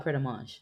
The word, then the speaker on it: Pret A Manger: What's called Pret a Mange? I've been saying it wrong, not just a little bit, like for years. It's not Pret a Manger, it's Pret a Mange.